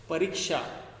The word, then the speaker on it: परीक्षा: परीक्षा। तो र में र का उच्चारण हम ज्यादा देर तक कर रहे हैं तो परीक्षा कहेंगे, परीक्षा। तो र में बड़ी ई की मात्रा होनी चाहिए।